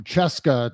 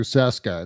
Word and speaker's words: Cesca: know what's that's how my last name went from Cheska to Seska it's easier to presumably